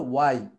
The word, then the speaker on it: why: খেয়াল করেন আমরা সারা জীবন বলছি why, why, why বলতেছি, হ্যাঁ, why has it done, কিন্তু অ্যাকচুয়ালি প্রোনাউন্সিয়েশন হলো why, এইচটা আউট।